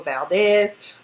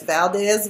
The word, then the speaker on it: Valdes: our house known as Angela Valdes that Valdez with and s not a Z I've been saying about